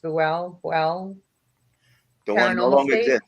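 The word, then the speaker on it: Buell: Paranormal State with Ryan I think it's pronounced buwell well I no longer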